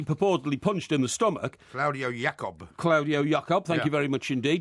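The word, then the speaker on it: Claudio Yacob: Claudio Jacob, thank you very much indeed.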